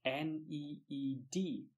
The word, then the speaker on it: knead: attention to the spelling it sounds like n EE D but it is spelled KN e ad need you marinate marinate they